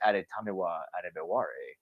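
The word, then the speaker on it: Adetomiwa Adebawore: Yeah, his name is fun to pronounce once you get it, because it's Adetamiwa Adebawore.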